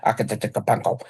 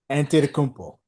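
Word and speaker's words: Antetokounmpo: Kapeno. Um, I still butchered this guy's name. Ant Kmpo.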